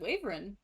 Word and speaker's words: wyvern: with vern everyone in my family pronounce it pronounces it waverin i have never heard a waverin i kind of dig it but i've always always always heard wyvern what what i have always always always heard